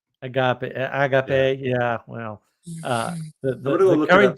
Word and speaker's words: agape: friend kept correcting me it's not a hard G the the aape type love and I still think the rest of us would say Agape but Agape Agape yeah well uh